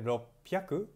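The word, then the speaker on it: ろっぴゃく: sorry um 300 I sound yaku 600 i ropey aku 801 I hop pyaar ko punch in a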